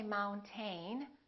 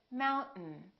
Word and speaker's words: mountain: pronounced we don't say mount ain we say mountain mountain this syllable is stressed therefore the second syllable is reduced in the vowel disappears